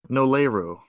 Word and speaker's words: Noleru: How do you pronounce that name? Noleru. Noleru? Okay. Is that based off an actual ship, or?